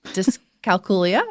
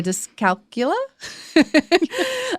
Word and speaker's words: dyscalculia: Here's the one that people have trouble pronouncing. Dyscalculia or dyscalculia. I know. I think I say dyscalculia.